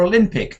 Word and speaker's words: Olympic: Horrific D again just the same as I said for Olympic. Olympic. Horrific. They're the same, aren't they? Three syllables with the middle one.